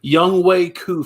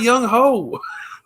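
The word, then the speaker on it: Younghoe Koo: This is where I put Young Wei Koo from Atlanta. And that's how you pronounce it. It's Young Wei. Young Ho Koo. It's not Young Ho. It looks like Young Ho.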